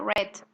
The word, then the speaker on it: read: igual si ustedes pueden verlo sterritt pero se pronuncia red entonces es importante también tener en cuenta eso